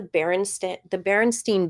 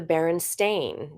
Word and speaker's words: Berenstain: That's how I remember it, but it's actually the Berenstain. Now, I don't know if that's how you pronounce it, but it's written with an AIN at the end instead of an EIN.